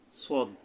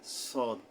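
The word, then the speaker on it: صاد: পেরেছেন এরপরে আমরা সোয়াদ নিয়ে কথা বলবো সোয়াদ সদ তো এটা হলো কিভাবে জিহ্বার আগা সামনের নিচের দাঁতের আগা থেকে শীর্ষসহ মোটা ভাবে আদায় হবে সদ কিন্তু এটাকে সিন বলছি পাতলা ভাবে কিন্তু সদ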